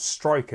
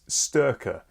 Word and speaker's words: Styrkr: wrong the entire time it's not Striker it's sterker but I'm going to still